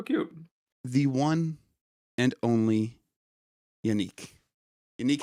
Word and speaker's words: Yannic: I think most Americans end up pronouncing it. Yeah, or like Yannic. Yannick too, yeah. But It's like the A is kind of like I pronounce it like a short A. Like Yannic. Yannick. And the I is different at the end as well.